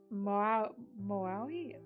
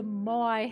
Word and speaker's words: Moai: They had an Easter Island head, and the fucking Moai?